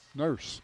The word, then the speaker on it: Norse: LeBrian Norse. I guess that's the way you pronounce it. Nurse. They call it Nurse.